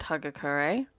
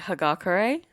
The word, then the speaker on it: Hagakure: her name annoys you i've just always said hugga curry even though i watched the show again recently and they say hagakure but that just sounds